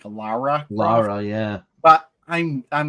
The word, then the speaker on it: Lara: thing I know it's the proper pronunciation isn't Laura Croft it's something like Lara laa yeah but I'm